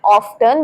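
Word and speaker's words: often: next word आप देखिए ओ एफ टी ई एन जिसे लोग बोलते हैं ऑफन बट इसे बोलते हैं ऑफन ऑफन ऑफन का मतलब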